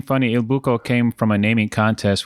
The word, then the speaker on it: Il Buco: hanging out today at Il Buco. It's Il Buco.